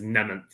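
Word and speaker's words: Mnementh: I think it's Nementh. Is the M silent? I believe the M is silent.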